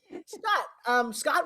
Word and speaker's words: Scott: Scott with one T, which I just think is so sexy. One of your favorite memories from shooting? Well, there's two T's. The one is silent, just to let you.